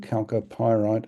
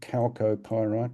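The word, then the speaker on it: chalcopyrite: It's because of the disseminated nature of the of the calop pyite correct pronunciation calc pyite. Take note please. Calcos in Greek.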